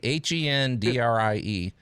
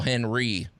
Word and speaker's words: Hendrie: Hendrie. For years, I called him Phil Henry. I mispronounced.